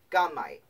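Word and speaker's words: gummite: luster and occurring in gum-like masses so mike gunmite that's how you say it okay it's now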